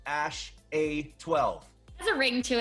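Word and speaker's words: X Æ A-12: I mean, it's just X, the letter X. And then the AE is like pronounced Ash.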